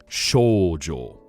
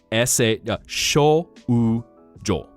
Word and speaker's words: shoujo: And learning like OU has a long O sound. So it doesn't actually modify anything, but instead of O, you get O. Which, another funny story. So the Japanese word for girl, shoujo, shoujo, or for boy, shounen, shounen.